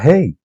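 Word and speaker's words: ה: alfabeto hebreo es la Hey que se pronuncia con la respiración verdad llega a pronunciar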